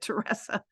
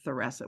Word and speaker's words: Theressa: So, I think she kind of just was easy about it and didn't necessarily correct people if they didn't say Theressa, which is the way that her family pronounced it.